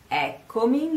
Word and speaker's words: Eccomi: call me a dog the stress of the sentence is on the Oh a door oh it's awesome oh oh a door so you say a coming first stresses on the first e of egg coming and then on that all over door now so I come here